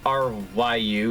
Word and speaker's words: Ryu: pretty sure it's Rio I'm pretty sure it's pronounced Rio in this game even though it's spelled r Yu so it's Rio though